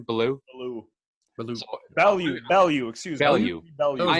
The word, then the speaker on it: Bellew: He's got 1 loss on his record, and he lost to Tony Bellew. How do you say his name? Bellew?